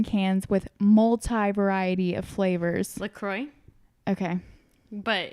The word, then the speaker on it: LaCroix: But how do you pronounce the sparkling water that comes in cans with multi-variety of flavors? LaCroix.